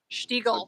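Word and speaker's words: Stiegl: We've been talking about the Sheagle. Is that the right pronunciation there? Sheagle.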